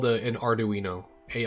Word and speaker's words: Arduino: say it so Arduino oh I was right Arduino Arduino Arduino uino yeah always look up the pronunciations that's what I do when I'm unsure